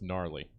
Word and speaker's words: gnarly: guys always um remember don't go hard g with gnarly that's um guys be